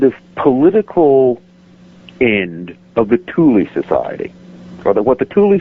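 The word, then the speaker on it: Thule: after World War I and I think something that that maybe Peter lenda did he mention the Tuli Society I believe so yes yeah okay um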